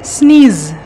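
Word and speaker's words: sneeze: starting Reshma Reshma হা স্নিচ correct বলেছো উচ্চারণটা হবে স্নিজ স্নিজ ভেরি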